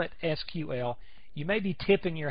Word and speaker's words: SQL: see right here is SQL as if it was spelled out s qu L this has to do with the history of it you will hear people call it SQL and it's not that's